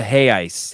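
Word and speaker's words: reais: uh Joe Westland seven the Brazilian currency is pronounced uh hey Ice hey Ice oh that guy's Brazilian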